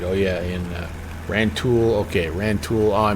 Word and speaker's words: Rantoul: Okay, Rantoul. Oh, I mispronounced that. Rantoul, Illinois.